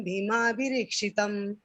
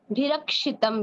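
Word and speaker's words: भीमाभिरक्षितम्: अपर्याप्तं तदस्माकं बलं भीष्माभिरीक्षितं पर्याप्तं त्वदिमेतेषां बलं भीमाभिरीक्षितम्। भिरक्षितम बीबी जी, भिरीक्षितम नहीं है, ऊपर भी अपर्याप्तम तदस्माकम बलम भीमाभिरक्षितम, भिरक्षितम, भिरीक्षितम नहीं है बीबी जी, है ना। उसमें उच्चारण में हम थोड़ा ध्यान देंगे।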